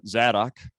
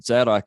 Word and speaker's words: Zadok: So Zadok is it's often spelled with a Z, but it's really a tz sound.